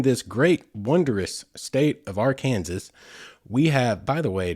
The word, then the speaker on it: Arkansas: I just committed, I don't know if it's a misdemeanor or what, but that is a crime in Arkansas to pronounce it Arkansas.